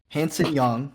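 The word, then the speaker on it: Hansen Yang: Hanson Young is how you say it.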